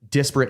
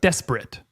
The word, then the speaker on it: disparate: It's just Desperate. Nope, disparate. Spell that for me. Disparity. You've heard that term. Yeah. Disparate is the noun version of, or is the adjective version of disparity.